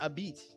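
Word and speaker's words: abich: It's pronounced abit. But I grew up in America, so I probably say it with a different twang. But yeah, it's abit. Abit. But it sounds like the word that you use for I think it's the mother of a female dog.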